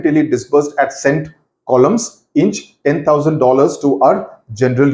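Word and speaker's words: Colme's: Retreated means he went back, disbursed, he went back to cent columns inch. Though it is spelled as C-O-L-M-E apostrophe S, the pronunciation is columns, K-O-L-L-U-M's, and gave us $10,000 for our use.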